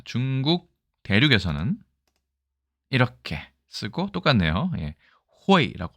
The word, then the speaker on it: 卉: 호이라고 발음합니다.